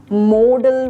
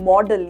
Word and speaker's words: modal: नाउ आई एम not calling them मॉडल, ये miss pronunciation है। इनको हम मॉडल नहीं बोलते हैं, इनको हम बोलते हैं मोडल वर्ब्स। मोडल, मोड आपने सुना होगा, आई थिंक हमने स्कूल में पढ़ा था ना, मोड ऑफ ट्रांसपोर्ट।